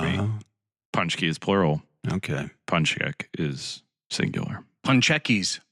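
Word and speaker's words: pączek: Punchek. Say it again? Punchek. Pun check. Yeah.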